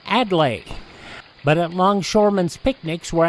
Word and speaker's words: Adlai: Philologists sweat and lexiconists bray, but the best they can do is call him Adlai.